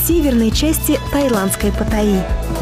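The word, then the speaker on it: Паттайя: в северной части таиландское патай заметьте правильное произношение города Патая так как в тайском языке как правило ударение ставится на последний слог продолжаем храм был возведён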